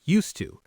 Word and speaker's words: used to: We don't say used to. It sounds more like used to. The D sound blends with the T.